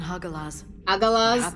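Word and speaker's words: Hagalaz: The elusive man eventually tracked me down on hagalas that's how you pronounce that planet he was coming Faron and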